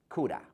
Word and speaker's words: could have: Could have. Or, you know me, coulda. There is no v sound.